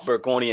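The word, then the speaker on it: Bergonié: Law of Burggoni and Tribandeu, that's how you say it.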